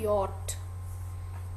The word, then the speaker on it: yacht: इसमें CH लिखा है तो च की साउंड आनी चाहिए ना, बट इसमें हम च की साउंड नहीं बोलते, इस वर्ड को हम बोलते हैं यॉट, YAWT। अगर ऐसे स्पेलिंग हो ना, उसकी प्रोनाउंसिएशन क्या बनती है, यॉट। तो इसको हम या च की साउंड नहीं बोलते, इसको बोलेंगे यॉट, राइट।